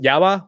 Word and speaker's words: Jabba: And he pronounces it Yaba, which is the correct pronunciation. Oh my God. Because of the J, Yaba.